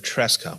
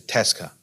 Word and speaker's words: Tresca: topic is about um Tesa Memoir usually we pronounce that tresa when I T students okay this a Tres Criterium but it turns out that's it's a Tesa because this person from France on the fluidity